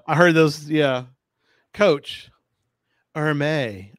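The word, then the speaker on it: Hermès: heard those yeah coach Erma I know how to say it right it's not Hermes or May so it's a Chris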